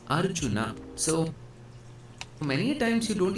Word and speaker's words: Arjuna: So this right here is not arjun or arjuna it's arjuna.